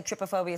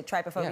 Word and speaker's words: trypophobia: Some people say trypophobia, some people say trypophobia, Yeah.